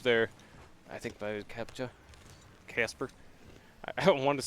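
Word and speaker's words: Kacper: it K it's k a c p r pronounced Casper Caper C cper but not the case for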